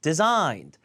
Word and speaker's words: designed: 그 뭐예요 well designed 디가 아니라 designed 두고요 강세 여기예요 designed des 그가 아니라 des